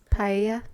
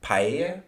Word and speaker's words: paella: Paella. Paella. That's my best guess cuz double L's makes like a Y. It's P A E L L A.